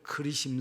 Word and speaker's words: 그리심: 산 이라고 하는데 어 그렇게 영어 표기 에는 거리 신산 이렇게 번역을 해서 우리도 그리신 3 이렇게 인지 하지만 알아 뭔가는 이쪽에서는 긋자 로 발음해야 제 일자로 바로 말해서 제리 짐이라고 이렇게 발음을 이렇게 써 낫더라구요 의미는 잘라 내다 라는